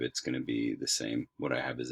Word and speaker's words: bet: um but you're you're not really going to pronounce this letter so that's the first letter alef and then the second letter is bet or vet and again in your textbooks carl and rebecca